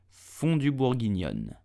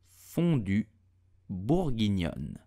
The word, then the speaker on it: fondue bourguignon: You will say fondue bourguignon. Fondue bourguignon. The E at the end of fondue is totally silent, so do not pronounce it.